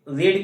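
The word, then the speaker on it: read: क्योंकि देखिए रीड की थर्ड फॉर्म क्या होती है? देखिए प्रोनंसिएशन करेंगे तो हो जाएगा रीड रेड रेड। लेकिन स्पेलिंग आपकी वही होती है।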